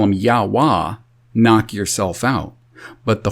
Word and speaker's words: Yahweh: This is why I, to this day, pronounce his name Yahweh, because it's made of those four glyphs, Y, E, U, E. And you don't get A out of E.